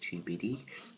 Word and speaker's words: Tubidy: So it's pronounced TUBD.